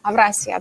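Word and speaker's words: Avrasya: который называется тоннель Евразия турки его часто произносят как авраасия панель так вот это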